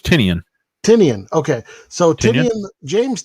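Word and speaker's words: Tynion: By James, I can't pronounce his last name, Tynan? I thought, is that not right? I thought it was Tinian.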